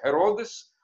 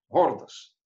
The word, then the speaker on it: Ирод: Основатель этой династии Ирод Великий. Ирод, собственно говоря, это византийское произношение, по-гречески это Геродес, а в Талмуде он Гордос.